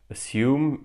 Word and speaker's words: assume: Assume is spelled A-S-S-U-M-E. So if you put the first three letters, it says as. Then we have you and me.